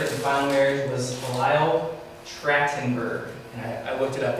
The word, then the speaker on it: Trachtenberg: And then the third and final marriage was Lyle Trachtenberg. And I looked it up, that's the correct pronunciation for that.